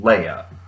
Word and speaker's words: Leia: they do settle on it's supposed to be pronounced Leia.